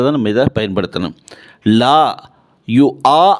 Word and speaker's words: لا يؤاخذكم: தான் நம்ம இதை பயன்படுத்தணும் லா யு ஆ அப்படின்னு சொல்லணுமே தவிர யு வா அப்படின்னு சொல்லக்கூடாது சரியா லா யு ஆஹி ருக்கு